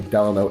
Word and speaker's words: Delano: Apparently Delano is how you say the name of the property, you know, just like Franklin, Delano, Roosevelt.